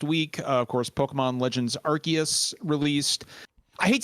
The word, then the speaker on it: Arceus: always said Arceus, and I hate saying Arceus. To me, it looks like Arceus, but it's actually Arceus. Arceus, but like I feel like the general consensus is that most people actually pronounced it Arceus. I pronounced it Arceus ever since I first saw the word. What's funny is I'm pretty sure it's Arceus in the Japanese pronunciation.